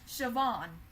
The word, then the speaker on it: Siobhan: Well, her name is actually pronounced Siobhan.